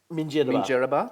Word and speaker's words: Minjerribah: tell me, I got the pronunciation wrong before. Minjerribah.